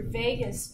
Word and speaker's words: vagus: Cranial nerve 10 is your vagus nerve. Not spelled like the city, V-A-G-U-S.